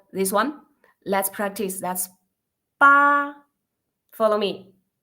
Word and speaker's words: 八: Okay, so the first consonant that we pronounce 波, 波. Yeah, okay, so this one, let's practice. That's 八.